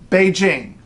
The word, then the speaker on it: Beijing: news from Beijing but what's the closest English sound you can make Beijing Beijing just the way it looks in the pinyin romanization you don't have to look at that J and say oh that's got to be as you know it's Beijing that is as close as you're going to get and it's frankly awfully